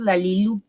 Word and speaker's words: La Lilu: Yo siempre he tenido la duda, muchos le dicen La Lilu y otros La Lilu. ¿Cuál sería la pronunciación correcta? Bueno, como no tiene tilde en la U, correcto, es La Lilu.